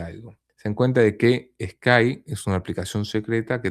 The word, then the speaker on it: Sky: maravillosa donde se puede Sky, se dice Skype, no, no, no, no es Skype. Sky, SK Y, no Skype. Perdón, mi pronunciación seguramente causó alguna confusión.